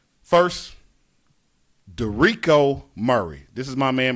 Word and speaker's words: Derico: It's Derico.